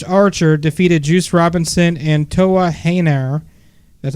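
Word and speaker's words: Toa Henare: Also, Minoru Suzuki and Lance Archer defeated Juice Robinson and Toa Heinar.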